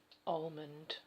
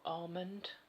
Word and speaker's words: almond: This was sent to me by Nika, and it's almond or almond. I always say almond. I think it's a silent L though.